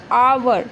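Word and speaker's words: hour: Silent होता है। तो इसको बोला क्या जाता है? ऑनेस्ट। आवर।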